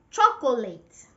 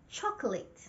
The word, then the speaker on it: chocolate: They say chocolate. Three syllables, chocolate. They want to say every single letter in the word, chocolate. It's wrong. That is not correct. It's not chocolate. The right pronunciation is chocolate.